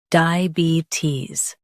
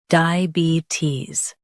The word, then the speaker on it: diabetes: diabetes Both US and UK have the same pronunciation of this word. diabetes Now, read the syllables shown on the screen naturally. di uh be tis diabetes Emphasize be and soften tis.